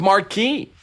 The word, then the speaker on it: marque: to authorize letters of marquee against Venezuela so US entrepreneurs could legally seize their ships. Yeah. So, of course, letters of of marquee. I say mar letters of mark is the cor correct pronunciation uh letters of mark